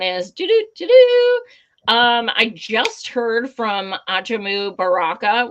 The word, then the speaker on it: Ajamu Baraka: And the second announcement is I just heard from Ajamu Baraka, which is actually the correct way to say it.